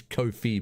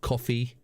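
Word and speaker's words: Ko-fi: It is Kofi, by the way, to rhyme with no fee. Kofi. No fee. I've discovered that. It's not coffee. It's not Kofi. It's Kofi.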